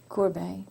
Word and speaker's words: Courbet: And you pronounce his name Courbet or Courbet? Courbet.